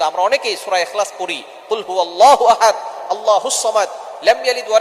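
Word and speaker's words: قُلْ: আল্লাহ পাক রব্বুল আলামিন এখানে বলছেন কুল হুয়াল্লাহু আহাদ, এখানে কফ দিয়ে পড়ছেন। কিন্তু অনেকেই ভুল করে, উচ্চারণ সঠিক না হওয়ার কারণে তারা পরে কাফ দিয়ে কুল হুয়াল্লাহ।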